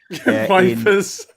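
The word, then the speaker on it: Ypres: speaking to tonight and they're at Wipers or EPS, however you pronounce it. Wipers.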